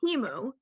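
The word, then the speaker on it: Temu: you think it is TAMU or teu it's one or the other TAMU I think and we all say Teemu we were all like oh that's how you say it I know one of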